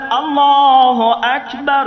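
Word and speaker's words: أكبر: ভালো করে বুঝবেন আপনি যখন টান ছাড়া পড়লেন আল্লাহু আকবার শুধু আকবার শুধু আকবার শব্দের দ্বারা হলো বড়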